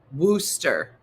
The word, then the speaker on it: Worcester: You took all of them out. They're like, that's how you say it. Worcester.